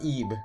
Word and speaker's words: Ib: game called eeb now this looks like it says el il or something but i'm pretty sure it's pronounced eeb i did my i